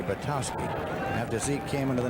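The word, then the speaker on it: Zeke Bratkowski: Bratkowski played his college football at Georgia, where they called it Bratowski. I went in to broadcast a football game there one time and asked about the pronunciation. They said silent K, Bratowski.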